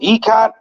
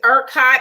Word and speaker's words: ERCOT: He voted to give whatever it's called, ECOT. How do you pronounce that, Demetra? It's actually, I think it's ERCOT.